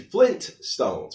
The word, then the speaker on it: Flintstones: So it is actually Flintstones, but most people mispronounce it as Flintstones.